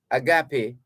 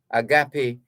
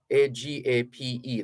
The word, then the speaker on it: agape: or simple affection so agape is christian love a-g-a-p-e that's one meaning it's spelled the same way but here's another meaning for it for for it now